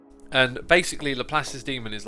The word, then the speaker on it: Laplace: No, Le Pieces Demon, but I'm sure I'm getting that first name wrong.